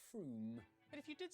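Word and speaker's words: Frome: on your train wrong it's not from f-r-o-m-e it should be blitheringly obvious it's pronounced froome but if you did say from don't worry you're in good company froome is officially the most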